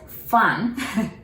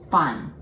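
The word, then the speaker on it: 分: a candle like so you do not bite the lower lips like fun you know you just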